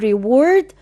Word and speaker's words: reward: اما اقول reward بنفس النطق كده هوت في الحالتين ممكن تبقى يكافئ، كفعل، وممكن تبقى كنون بمعنى مكافأة أو جائزة reward. نخلي بالنا من النطق كمان.